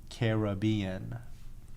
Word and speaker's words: Caribbean: of and and so somebody said the uk pronunciation is caribbean okay interesting interesting yeah so there's like a